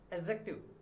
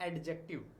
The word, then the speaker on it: adjective: देखिए, एक तो ये एडजेक्टिव नहीं होता है, इसका भी प्रोनाउंसिएशन जो है, जो शुद्ध प्रोनाउंसिएशन जो है, जो प्योर प्रोनाउंसिएशन जो इसका है वो है एडजेक्टिव। एडजेक्टिव, नॉट एडजेक्टिव। Okay, तो एडजेक्टिव जो है इसका मतलब है विशेषण।